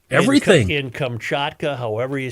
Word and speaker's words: Kamchatka: I'd go with Kamchatka, yeah, like you were. my God, I was... You got to say more like Kamchatka.